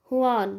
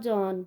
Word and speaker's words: Juan: वाई वॉज जॉन, we will pronounce it हुआन, नॉट जॉन. ठीक है, इसको हम हुआन प्रोनाउंस करेंगे.